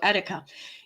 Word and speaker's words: Etika: hour I play One More Time okay I'm pronouncing it right correctly okay thank you all right that worried me all right so etika he was a content creator and he passed